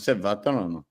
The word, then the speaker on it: Vatrano: I said it right. I said Vatrano. Yeah, you got it. Yeah, throw a little Italian spin.